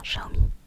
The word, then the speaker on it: Xiaomi: discussion je crois que ça se prononce bien Xiaomi c'est X et moi j'ai le mi-9 je crois